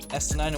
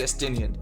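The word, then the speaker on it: Estinien: Estinine, what you got to say, boy? His name's actually Estinian. I keep saying his name wrong.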